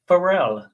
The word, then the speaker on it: Pharrell: It is Pharrell, as in happy singer Pharrell.